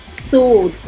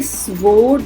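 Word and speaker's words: sword: सोड, इसे स्वोर्ड नहीं बोलते, सोड.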